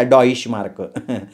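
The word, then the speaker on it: Deutsche Mark: डॉइश मार्क म्हणतात तिला विचित्र स्पेलिंग है काहीतरी पण उच्चार मात्र असाच करायचा डॉइश मार्क आपला कसा रुपया इंग्लंड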